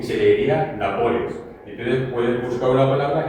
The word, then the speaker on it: Nápoles: Entonces, si tenemos la palabra Nápoles, sabemos que es esdrújula. Y como esdrújula, la palabra tiene tres sílabas.